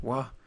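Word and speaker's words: は: Why would something be typed as ha, pronounced as wa, and it's a particle?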